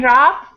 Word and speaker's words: rough: the same as snow even rough the same as tough and also rhymes with